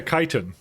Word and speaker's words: chitin: it was uh it's it sounds like it starts with a k yeah chitin yeah yeah I I